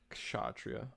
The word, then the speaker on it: Kshatriya: There's no A. You don't pronounce an A there. So it's ksha.